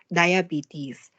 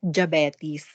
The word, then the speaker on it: diabetes: on your body yes here so the correct pronunciation of the word diabetes is diabetes but here in the philippines we call it jabati's you know japanese yeah yeah it is like